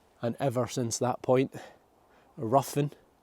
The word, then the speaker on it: Ruthven: And ever since that point, Ruthven, which I'm also told should be pronounced Ruthven or Riven, has been ruined ever since.